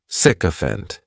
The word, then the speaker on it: sycophant: The next noun is sycophant and this noun has three syllables and the stress is on that first syllable. The spelling may throw people off to the pronunciation, but that sik is just pronounced sick. Sycopant.